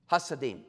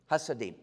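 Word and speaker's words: Hasidim: The first one, I'll spell it for you. H A S I D I M. Hassadim. Hassadim.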